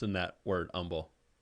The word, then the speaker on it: Humble: pronounce in that word humble there is an h in that yeah but you're not pronouncing it right right because the people of that town pronounce it humble that's what they call